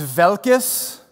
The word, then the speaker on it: Waalkes: it was refreshing uh if you're from the Nader lands it's velkis which was very refreshing to